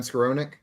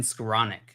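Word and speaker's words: Skowronek: in fact for Ben scaronick uh no it's Flash he's just not I'm not very excited about Ben swarovnik it's been squaronic it's actually how you pronounce something you're Dustin for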